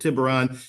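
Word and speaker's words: tiburón: you that speak Spanish the word tiberon if you say it correctly is the word shark in Spanish uh but tiberon advisors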